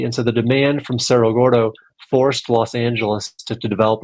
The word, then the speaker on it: Cerro Gordo: Is it Cerro Gordo? Am I pronouncing that right? There you go. That's right.